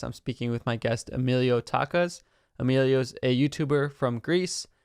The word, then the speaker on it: Emiliotakas: Emilio Takas.